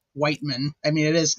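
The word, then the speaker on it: Wiechman: But phonetically it is still like Whiteman.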